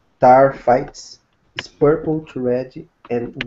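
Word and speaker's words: taaffeite: The taphite gemstone, pronounced tarfites, is purple to red and was first discovered in 1945.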